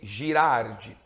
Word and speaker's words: Girard: Na verdade, Albert Girardi foi um matemático belga, alguns pronunciam Girard, enfim, a gente aqui está acostumado a falar Girardi, então vai ser Girardi daqui por diante.